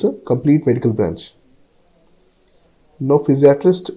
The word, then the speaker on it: physiatrist: complete medical branch no physiatrist is pronounced as Fizz e e at rest physiatrist So based on